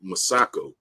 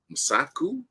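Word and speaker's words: Mosaku: Um, you got Wumi Masako. Masaku. No, you said it right the first time.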